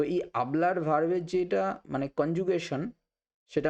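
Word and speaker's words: hablo: এবার আর এন্ডিংয়ের যেসব ভার্ব, যেমন আবলার, সোপলার, গানার, এরকম। তো এই আবলার ভার্বের যেটা মানে কনজুগেশন সেটা আমরা দেখে নিচ্ছি। ইয়ো আবলো, ইয়ো আবলো, এইচ কিন্তু সাইলেন্ট, তার মানে আমি বলি।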